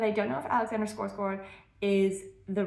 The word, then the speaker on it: Skarsgård: I am getting excited but also nervous about the adaptation because I don't know if Alexander Skarsgård, or Skarsgård is how I would imagine it's pronounced in Swedish, but I don't know if he has the right vibe.